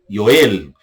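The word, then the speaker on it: יואל: Profeta Joel, português, hebraico Yoel. Joel, português, Yoel, hebraico. Nós temos aí o profeta Amós, português, Amós, hebraico, Amos, Amos, Amos.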